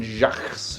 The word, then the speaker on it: Jacques: you say his name it's like it's like French or something no Brian Jacques Jacques Brian anyway those ones